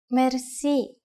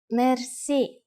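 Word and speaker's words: мерси: you will be amazed which word that is merci merci merci is a long word from french but it is pronounced with the typical bulgarian heart r it is used mainly in informal situations merci how do you answer it's easy there are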